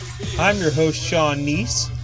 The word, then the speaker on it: Kneese: I'm your host, Sean Kneese. The K is silent.